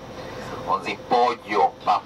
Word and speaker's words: pollo: On dit pollo, pas polo.